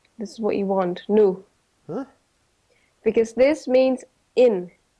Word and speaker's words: no: Just remember that N-O, Yep. it's pronounced nu, Okay.